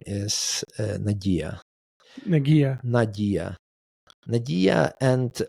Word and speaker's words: Nadia: My mom's name is Nadia. Nadia, and like Nadia from like in Ukrainian, it literally means hope. It's just a name. Nadia.